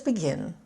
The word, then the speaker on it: begin: We tend to stress two-syllable verbs on the second syllable. So let's begin.